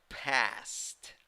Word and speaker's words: past: This A sound is the sound of an A, as if it, imagine that vowel is laughing. Okay, so you have to say past.